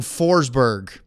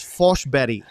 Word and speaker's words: Forsberg: And she said that the proper Swedish pronunciation is Fosh-Betty. Which Yeah. sounds nothing like Forsberg.